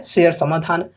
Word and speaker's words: Share Samadhan: तो देखो, कंपनी का नाम है सारे समाधान। इंग्लिश में प्रोनाउंसिएशन के अनुसार कहें तो नाम है शेयर समाधान।